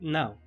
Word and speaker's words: BLAME!: So - Blame if you read it as it’s written, or the phonetically correct BLEM! As the Nihei intended it to sound as he named the series after the story’s protagonist’s gun, the Gravitational Beam Emitter or more specifically the